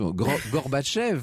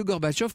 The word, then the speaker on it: Gorbatchev: Alors, je prononce là comme je peux à la russe, Gorbatchev, dit-on en France. Ce Gorbatchev que la presse occidentale populaire, très enthousiaste d'emblée, ne va pas tarder à surnommer Gorbi.